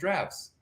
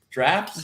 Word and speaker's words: giraffe: And then they start reproducing, and then now we have long-necked giraffes. First of all, everybody's real busted up about how you're saying giraffe. Drafts? Giraffe. It's 2 syllables. You're saying 1 syllable.